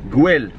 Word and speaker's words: Güell: How do you pronounce it? Güell.